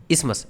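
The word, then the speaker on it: isthmus: इसको हम कहते हैं स्मस क्या बोलते हैं स्मस आई एस टी एच एम यू एस इमस ये टीच इसमें साइलेंट रहता है इमस इमस नहीं इमस ठीक है इमस है और हिंदी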